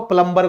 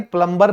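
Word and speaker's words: plumber: सर हम तो प्लम्बर को बुलाते हैं। लेकिन भाई प्लम्बर नहीं होता, क्योंकि इसमें ये जो बी है ये साइलेंट होता है। आप इसको कहेंगे प्लमा।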